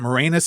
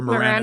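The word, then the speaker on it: Moranis: Is it Morenus and Mor or Moran? It's like Uranus.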